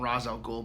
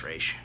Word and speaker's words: Ra's al Ghul: we got Rachel Ghul well they call them Ra's al Ghul but it's Rach it's pronounced raesha we got the Scarecrow which the Scarecrow is